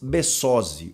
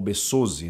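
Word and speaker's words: Besozzi: que vai acontecer Lucas besozi ou besozi né já que o espanhol não tem o o a sílaba tônica aguda né 20 anos esse é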